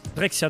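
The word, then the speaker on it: Drexciya: Alors, j'arrive pas à le prononcer, comment ça se prononce hein Drexia. Drexia, tout simplement.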